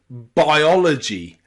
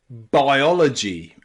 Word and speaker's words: biology: at them okay so the first way to pronounce I and O together in English is a i a in words like biology biology and priority listen closely